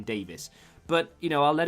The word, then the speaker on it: Davies: to canada as well probably does they say davies but everyone else in the world is meant to be pronounced davis because it derives from hebrew and